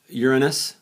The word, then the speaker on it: Uranus: 50 some I think 40 50 some uh Uranus and that's the way it's pronounced for Real uh Uranus has several Neptune